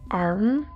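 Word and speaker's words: arrum: He pronounced it arm. That's A-R-R-U-M.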